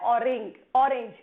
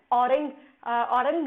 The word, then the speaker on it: Orang: है ऑरेंज, ठीक है, लेकिन इसको प्रोनाउंसिएट किया जाता है औरंग नेशनल पार्क, या फिर आप बोल सकते हैं राजीव गांधी औरंग नेशनल पार्क। तो प्रोनाउंसिएशन भी यहाँ पे थोड़ा डिफरेंट है क्योंकि मैंने यहाँ पे